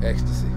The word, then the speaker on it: Xta-C: Xta-C. Ecstasy. Ecstasy for those Ecstasy. Who can't figure it out phonetically.